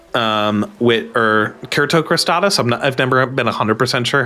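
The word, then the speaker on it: cyrtocristatus: Yes, and I think that I had also never been clear on the pronunciation, but it's derived from like Kurt. Yeah, I thought. Yeah. That makes me think it's probably Kertocrostatus.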